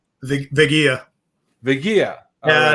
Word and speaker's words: Veguilla: the last name the vegia vegia yeah it's like quesadilla nice yeah well uh